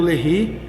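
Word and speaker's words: Léry: terra do Brasil 1 a lei tô lendo lehre mas é que se escreve LED tá aqui ó ó e o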